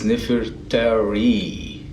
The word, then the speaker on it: Nefertari: We say Nefertiti or Nefertari, which like two different queens by the way. It's Nefertari. It means the most beautiful one.